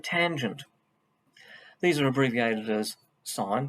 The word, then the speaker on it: sin: sine cosine and tangent these are abbreviated as sine pronounced sine it's spelled s-i-n cos and tan sine